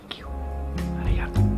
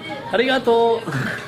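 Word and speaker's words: ありがとう: We tested them Let's try the noodles Arigato! Do I say it right? Do you say Arigato or do you say ...? - Yes, Arigato is correct - Ok Can I say it another way?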